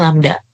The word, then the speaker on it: lambda: Kalau yang tanda P itu dibacanya rho, kalau yang tanda kayak Y kebalik itu dibacanya lambda.